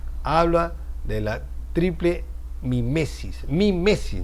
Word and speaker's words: mimesis: Mimesis, no némesis, mimesis.